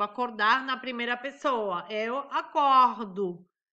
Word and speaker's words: acordo: Eu acordo. Coloco o O no final, né? Mas pronuncio como U.